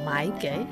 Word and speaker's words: 买: they share similar pronunciations, yet different tone. So, 买 that's to buy. 卖 that's to sell. 卖 Uh-huh. So,、 perfect. That's the first, no, the fourth tone.